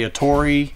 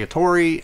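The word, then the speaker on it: Ettore: etter a products company there's different things out there about how you say it I was raised to say a Tori if you listen to me talk long enough I'll say a Tori @array it's a great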